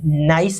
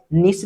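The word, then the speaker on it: gneiss: है और ग्रेनाइट से जो नाइस है इसको निस भी बोल देते हैं या इसी को हम नाइस क्योंकि ये जी इसमें साइलेंट है नाइस ही बोलते हैं इसको तो नाइस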